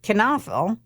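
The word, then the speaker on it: Knoefel: them up, it's their last name is not spelled the way it is said. And that's K N O E F E L. I had to put Kafel in parenthesis so you'd know how to say it.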